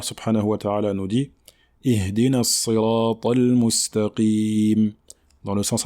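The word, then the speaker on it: اهدنا: Donc on ne dit pas ihdina, donc ce n'est pas le son e que l'on retrouve en français, mais le son i. D'accord, ihdina, ihdina. D'accord, il faut bien prononcer la lettre i.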